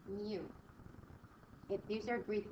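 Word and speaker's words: μ: This little U is pronounced mu.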